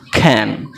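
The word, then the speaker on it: can: এক্ষেত্রে ক্যানের উচ্চারণটা কি বললাম? খ্যান।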